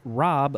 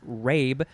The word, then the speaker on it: rabe: Rabe looks like it's pronounced rabe, but it's not.